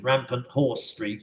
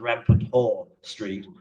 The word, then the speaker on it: Rampant Horse Street: Rampant Horse Street, if you say it wrongly, comes out as Rampant Whore Street.